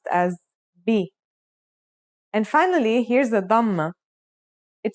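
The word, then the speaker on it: بَ: First, here's a fata. The pronunciation will now be ba. Next, this is a kasra. This is now pronounced as b. And finally, here's a dhma.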